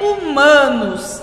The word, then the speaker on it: humanos: A letra H não tem som quando inicia a palavra. Então, quando a gente fala, né, humanos e hábitos, o H não tem som. Parece ser, né, o som do U em humanos e parece ser o som do A em hábitos.